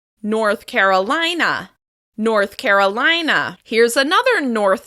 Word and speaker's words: North Carolina: This state is stressed on the third syllable of the second word. North Carolina. North Carolina.